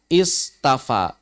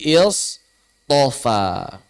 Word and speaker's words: istafa: Istafa. Tapi orang-orang Arab berat mengucapkan istafa sehingga diubah menjadi istofa.